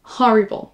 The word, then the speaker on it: horrible: on démarre avec horrible horrible pensez bien à prononcer le H horrible on traduit en